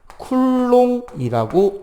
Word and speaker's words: 쿨롱: 그래서 그 단위는 C, 대문자 C라고 쓰고 쿨롱이라고 읽습니다.